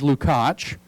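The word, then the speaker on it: Lukács: by the name of george lukach that's the hungarian pronunciation of george if you're trying to figure out how to look him up george lucas realized in the 1910s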